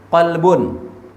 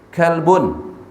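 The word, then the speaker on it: قلب: Itu kan qalbun, kalbun, qaf dengan kaf. Itu beda. Qalbun ya hati, kalbun ok. Beda kan?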